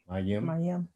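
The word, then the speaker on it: מים: Mayim.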